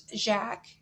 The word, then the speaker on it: Jacques: or jacob in german but in french it's jack so in the table